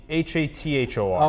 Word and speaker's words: Hathor: I start Hathor, H-A-T-H-O-R. Okay, I have hard time pronouncing some of my words after I talk for a long time.